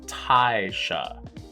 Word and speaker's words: Taisha: And it's not Tasha, I'm saying that wrong. It's Taisha.